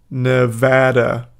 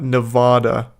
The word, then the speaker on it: Nevada: as a Nevada resident it's pronounced Nevada not Nevada now you don't know